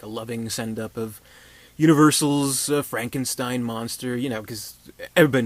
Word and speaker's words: Frankenstein: much so that he's like no you don't pronounce it like that it's it's Frankenstein things like that but ultimately he does have